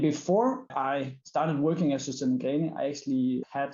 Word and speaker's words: Søstrene Grene: We have a letter in the Danish language that is called Ø, and I know that is really difficult for any foreigners to actually pronounce.